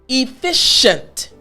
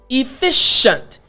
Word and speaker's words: efficient: five letters of this word c-i-e-n-t listen closely efficient efficient you hear that sh sound right well the